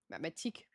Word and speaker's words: mathématique: How do you say what? Oh, math. Mathématique.